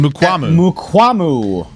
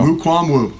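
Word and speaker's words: Mukuamu: Mukwambu. Mukwambu? Is that Mukwambu. Oh, no, there's no B in there, my guy. Mukwambu. Yeah. There we go. Mukwambu. There you go.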